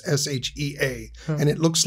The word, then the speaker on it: Shea: you say Shea Shea which is the correct pronunciation it would look like s-h-a-e right but it's s-h-e-a okay and still they